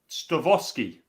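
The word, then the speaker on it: Stawowski: the cow it's stuff stavosky W's in Polish are pronounced as V there we go thank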